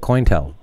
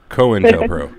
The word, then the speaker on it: COINTELPRO: I pronounced it Cointel. Cointel, huh? It's Cointelpro.